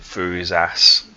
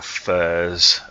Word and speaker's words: Thurisaz: Thurisaz. Okay, that's the old pronunciation for it. Sometimes it's Thurs, as in Thursday, and sometimes it's just simply said as fawn.